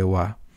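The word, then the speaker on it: は: Y esa sílaba en principio se lee ja, pero también por una serie de acontecimientos históricos complejos que se mantienen a día de hoy, en vez de leerse ja, se lee wa.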